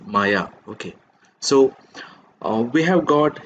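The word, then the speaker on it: Maja: Lunde even though uh the first part of her name is spelled as m a j a you have to pronounce it as Maya okay so we have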